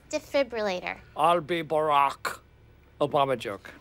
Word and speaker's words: defibrillator: careful with that defibrillator it is a defibrillator i watch er well according to the oxford english dictionary the proper pronunciation is debif relator actually it's defibrillator d e f i